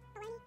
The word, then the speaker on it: bologna: Bologna, bologna. And then another one, lasagna. The G just gets cut out of there too. Lasagna. A bologna can rhyme with pony, even though the spelling